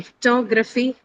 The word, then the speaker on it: photography: Second, in photography, the t is stressed. That the t syllable is the one that is stressed. And t is the first sound of that syllable. So it is stressed.